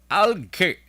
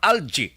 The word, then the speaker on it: algae: Tuman kadamo nga algae or algae. Duwane ka pronunciation mo. Algae or algae. A-L-G-A-E.